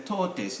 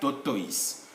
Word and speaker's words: tortoise: animal is a heifer this is a tortoise not tortoise we are coming from